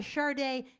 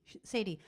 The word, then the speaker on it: Sade: Anyway, that was a song by Sade. Kathy calls Sade Sadie. Because her name is spelled S-A-D-E. Sadie.